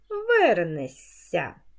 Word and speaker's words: вернешся: м'який подовжений звук дивляться а у дієсловах на шся знак м'якшення не пишемо і вимовляємо ш с як с ся м'який подовжений звук вернешся а пишемо вернеш почитаємо